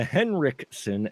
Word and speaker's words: Henriksen: okay it is the henriksson experience see I pronounced it right this time the henrikson experience another episode here because it's henriksson experience